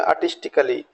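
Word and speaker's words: artistically: यहाँ blue colour से जो ए को मैंने दिखाया है इसको हमको प्रोनाउंसिएशन नहीं करना है, तो इसको बोले आर्टिस्टिकली।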